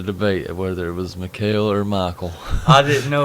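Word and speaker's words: Mikael: truth, for 27 years, I thought it was Michael. But I actually looked up somebody interviewing him, and they pronounced it. Mikhail.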